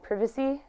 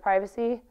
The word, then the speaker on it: privacy: But I used to make fun of my dad and family for saying privacy instead of privacy, but I say it sometimes, and that one's just ugly.